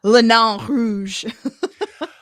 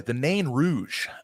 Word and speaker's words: Nain Rouge: Because I love giving the true Frenchness to this word. Le Nain Rouge. Or, as an Indiana boy, the Nain Rouge.